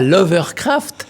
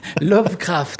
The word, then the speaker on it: Lovecraft: C'est pas l'Overcraft. Overcraft, c'est un avion qui vole avec au-dessus de l'eau. Lovecraft. Lovecraft.